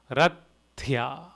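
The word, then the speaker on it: रथ्या: Rathya, Th, so it is tha, Thya, thya, Rathya, Rathya, Rathya.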